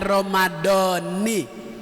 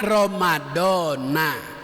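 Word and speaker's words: رمضان: Kalau pakai aturan ilmu nahu bacanya Ramadhani. Kalau keumuman Ramadhana. Niat Ramadhani sah puasanya, niat Ramadhana sah puasanya.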